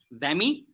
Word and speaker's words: WAME: These include the Committee of Publication Ethics, which is known as COPE, World Association of Medical Editors, pronounced as WAME, the DOJ, which is the Directory of Open Access Journals, and Open Access Scholarly Publication Association.